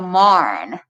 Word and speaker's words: Marne: not working with the Battle of the Marne, pronounced like barn.